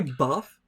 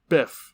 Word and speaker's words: Biff: get rid of the almanac did you say buff Biff Biff wait are you gonna challenge that yes off of Bryce mispronouncing Biff's name finally in the last movie